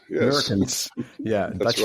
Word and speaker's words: Meurkens: mother is German, but this, if a Dutch pronounces my name, that rings a bell here. That's always nice. Meurkens. Meurkens, yes. Meurkens, yeah, That's Dutch right.